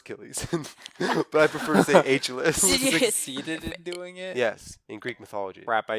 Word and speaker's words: Achilles: mythology who succeeded in killing a chalice it's pronounced Achilles in Greek mythology crap I even read the